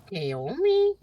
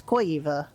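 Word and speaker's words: Caoimhe: It's got seven silent letters. Kea. It's Well, where depend on where you are in Ireland is qua. Oh, okay. But she says Kea.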